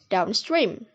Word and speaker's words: downstream: The primary stress is placed on the second word and the secondary stress is on the first word, like in the word downstream. And the last type is